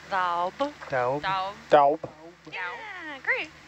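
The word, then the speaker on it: daob: So it's spelled D A O B. D A O B. Yeah. So it's daub.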